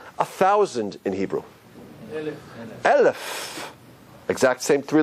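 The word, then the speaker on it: אלף: No pronunciation. You know, it's interesting also, how do we say 1,000 in Hebrew? Elef.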